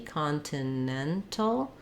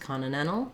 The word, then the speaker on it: Continental: one we have um because the um stresses on the nen syllable that makes me say this T Continental um or if I'm going fast Continental Continental um I'm going